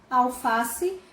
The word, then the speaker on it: alface: Alface, sílaba tônica, fá.